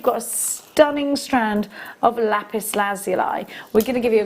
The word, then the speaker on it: lapis lazuli: And you've got a huge carat weight, 850 carats, sorry, of lapis lazuli. Some call it lapis lazuli, don't they? I think that's an American pronunciation.